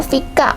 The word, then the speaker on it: Fika: พริก อะ นะ คะ มัน อ่าน ว่า ฟิก อะ ไม่ งั้น ทุก คน